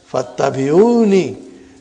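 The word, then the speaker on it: فاتبعوني: So, Hamzatul wasal is not pronounced. It's written there. Fattabi'uni.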